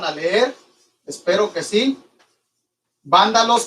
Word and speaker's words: vándalos: Vándalos con B chica y acento en la A. Palabra esdrújula, vándalos, ostrógodos, sin H.